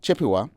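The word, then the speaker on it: Chippewa: Turtle Mountain Band of how you pronounce that Jessica? Chipua. Chipua.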